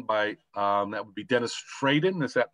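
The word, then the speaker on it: Fradin: And that book is Who Was Ben Franklin by, that would be Dennis Fraden. Is that pronounced correctly?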